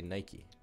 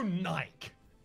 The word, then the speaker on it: Nike: how do you say Nike Nike like that how do you know no there's no Naik excuse me I think